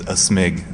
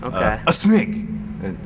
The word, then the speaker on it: aSmig: You could also say my name is a smig. Sort of like you're sneezing, you know, a smig.